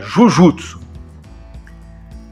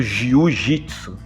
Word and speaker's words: Jujutsu: pronúncia, né, acabou ficando Jiu-Jitsu. Porque J-U-J-U-T-S-U, Jujutsu, pronunciado pelos japoneses, né, soava algo parecido, né? Então, os ocidentais entenderam como, Jiu-Jitsu.